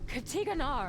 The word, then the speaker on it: Katigan: only waiting what gates katigan but they shall be one or the other by this cycle's end pronounced exactly like it's spelled but the seal may